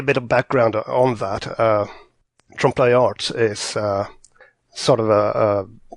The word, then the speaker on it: trompeloeil: library though first what's the proper way to pronounce it's written I would Trumbull loyal but I'm guessing I'm butchering that how have